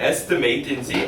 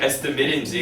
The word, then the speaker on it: estimate: 근데 문맥 없으니까 이거는 estimate인지 estimate인지 원어민들도 알 수 없어요.